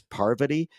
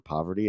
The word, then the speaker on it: Parvati: And then it's funny because the first time she was ever on Survivor, everybody kept calling her Poverty and not being able to say her name, and she would correct everybody.